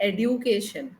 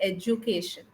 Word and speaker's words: education: Education, we don't say education, though there is a D over there. We don't say education, we say education.